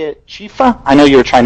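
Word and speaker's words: Chiepha: I believe we say it Chifa.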